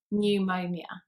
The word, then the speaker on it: pneumonia: comes up for example in the word pneumonia you can hear pneumonia you can hear the u sound in there so that's how it